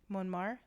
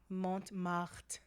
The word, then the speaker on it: Montmartre: Montmartre? Yes. That was beautiful. I think you're pronouncing it wrong. Montmartre. Yes, something like that.